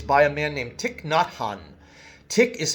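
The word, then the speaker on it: Thich Nhat Hanh: Buddha living Christ it's by a man named tick not hon tick is spelled th I see not Nhat Hanh Haan tick not Hanh tick is a Vietnamese monk who lives now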